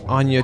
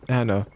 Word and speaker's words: Anya: You said Anna last time and then I went back and turns out no it was never Anna.